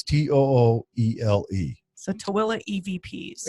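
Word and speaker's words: Tooele: So I have it listed under Twila EVPs. Okay, Twila is a place in Utah. And it's spelled now T-O-O.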